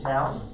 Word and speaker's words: tau: cosine of tap we need the tangent of tau we need the tau t a u that's how it's spelled towel not like towel but without the